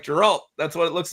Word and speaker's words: Geralt: Yeah, Geralt. Yeah, it's a hard G.